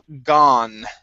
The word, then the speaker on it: gone: Okay, let's go to the word gone. Right here, instead of gone, okay, this is an ah sound. Gone. I was gone. I was gone. Okay, pronounce that N instead of ga. Okay, ga, n.